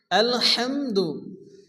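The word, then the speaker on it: الحمد: এখানে শুরুতে যে বাক্যটি এসেছে আলহামদু, এটা হচ্ছে বড় হ্যাঁ। এই হ্যাঁকে যখন আমরা উচ্চারণ করি তো মুখ দিয়ে বাতাস বের হবে।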